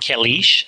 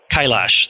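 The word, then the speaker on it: Kailash: the control complexes is Mount kulish in Tibet and China I think I'm pronouncing that correctly laughs Kyle ash thank you and at one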